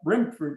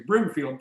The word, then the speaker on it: Brimfield: the goal if you're a brim fruit i'm sorry i was mispronouncing a brimfield prairie railroad prairie you